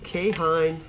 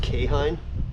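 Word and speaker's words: Keihin: Over here we have our two K-Hine, and I'm pretty sure that's how you say this if I remember correctly. It's spelled K-E-I-H-I-N on the carbs, but I'm pretty sure that's pronounced K-Hine.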